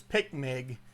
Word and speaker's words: PICMG: and this is a what i normally pronounce it as picmig it's p-i-c-m-g is what it's known